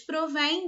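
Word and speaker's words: provêm: receber o acento tá elas são pronunciadas igualmente tanto no singular quanto no plural só que no singular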